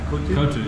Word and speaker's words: Kottu: Kottu, yeah.